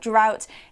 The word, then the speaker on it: drought: And one more thing to note about drought is that the pronunciation and the spelling are quite different. So we spell it D-R-O-U-G-H-T, but it's pronounced drought.